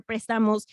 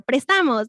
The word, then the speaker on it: Prestamos: They took off the accent on the E, so we're Prestamos, not Prestamos.